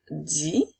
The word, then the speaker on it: dit: sur la page précédente le dit cette fois-ci s'écrit avec le T qui également est une nette muette alors je dis on a vu que c'était avec la lettre S alors que il dit va prendre un thé muet à la fin alors